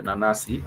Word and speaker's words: nanasi: An apple would be nanasi, pineapple would be nanasi, pineapple would be nanasi. So it has two syllables that are similar and one.